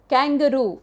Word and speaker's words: kangaroo: So kangaroo, K-A-N-G-A-R-U, kangaroo, K-A-N-G. It is not J, it is G.